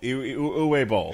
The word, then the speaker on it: Uwe Boll: Seriously, you're mispronouncing it. Bowl. Uwe Bowl. Uwe. Sorry. Uwe. Uwe. Uwe.